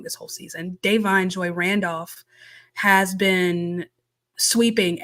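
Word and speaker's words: Da'Vine: pretty safe to say because Davine, I'm sorry, I've been saying her name wrong this whole season. Davine Joy Randolph has been sweeping everything.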